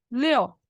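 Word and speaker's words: 六: De las 500, u, 6, leo, ¿Mm? Se escribe liu, se pronuncia leo.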